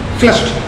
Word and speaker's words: flushed: Slater, very hot and flushed. See, whenever E, you most of the C, CH, SH, ending in letters, ED is pronounced as T.